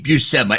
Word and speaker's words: Buscema: Aaron, can you give me the correct pronunciation of John's last name? Why, that would be Buscema.